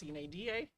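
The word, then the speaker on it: sine die: the board adjourns um under the Latin term Sinai or if you're for the English pronunciation it's cnada it means without a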